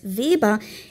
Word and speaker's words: Weber: started talking about Max VBA pronouncing it in proper German as Viba it took me a